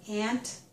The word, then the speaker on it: aunt: But there are also other people who pronounce this word with the ah sound, as in not.